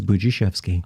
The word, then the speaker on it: Budziszewski: zeuski is it bujochevsky it's boujee chefsky i got that right yeah well the dz b-b-u is boo d-z-i is g s-z-e-w is chef i mean so